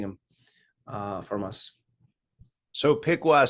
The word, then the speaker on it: Piqua: uh from us so piwa Center for anybody who's doing Audio Only is spelled Pi IQ UA so Piqua Center p i qua